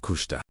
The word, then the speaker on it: Kushta: Because his life was anchored in kushta pronounce kush meaning truth, authenticity, or that which is real.